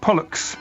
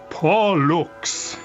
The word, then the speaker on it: Pollux: And there again, he's in his correction notes, he says, don't just say like Pollux, it sounds like bollocks, Pollux. Show the two syllables clearly.